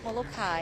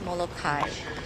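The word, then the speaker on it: Molokaʻi: Is it Molokai or is it Molokai? Okay, so my reason for always pronouncing it Molokai, and I've had people try to correct me, my father-in-law is born and raised on Molokai in Halava Valley there, and he always told me it's Molokai.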